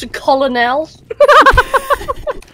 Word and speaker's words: Colonel: It's pronounced Colonel.